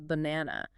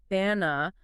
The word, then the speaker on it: banana: The classic example is banana. You almost never hear bana with three distinct a sounds. It's almost always bana. That first a becomes a soft quick uh a little bu na.